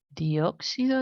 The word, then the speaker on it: dióxido: que las plantas utilizan dióxido de carbono. Acordaros que es una palabra esdrújula, entonces lleva acento en la O primera.